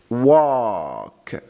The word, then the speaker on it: walk: Walk. خلي بالك ال silent مش بتتنطق، فبقول walk ما بقولش و، لا بقول وا، ال W مع ال A بقول وا، فقول walk.